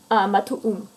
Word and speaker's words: Matuum: Also in the storage room book, I've got Kundi Zapatum and Matum Dipeka. Matuum is how you pronounce that.